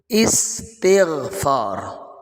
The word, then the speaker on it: استغفار: استغفار کر لو بھائی، تو لفظ استغفار نہیں ہوتا، لفظ استغفار ہوتا ہے۔ اب یہ استغفار اس کا اصل تلفظ ہے، الف کے نیچے زیر، سین ساکن، تا کے نیچے بھی زیر، استغفار۔ تو عام طور پر